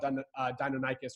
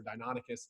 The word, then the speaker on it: Deinonychus: Reason being is we've talked about Velociraptor, we've talked about Deinonychus or Deinonychus, depending on who you talk to, but Utahraptor,